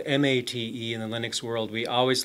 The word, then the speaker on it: MATE: laptop here it started with a boon to Ma Tei spelled ma te in the Linux world we always like to pronounce things strange well actually it's not strange